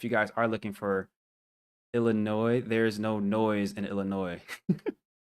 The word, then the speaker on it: Illinois: her I like m take that noise out take out the S it's silent Illinois right we don't call